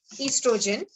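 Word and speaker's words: oestrogen: This O is silent here, so we say it estrogen and progesterone.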